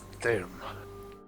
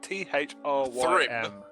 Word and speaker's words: Thrym: Do you want Done. to spell that so that we can actually pronounce it properly for you? Thyrim. T-H-R-Y. Sorry, T-H-R-Y-M. Thyrim. Time. Thrym. I'll say it's Thyrim. Thyrim.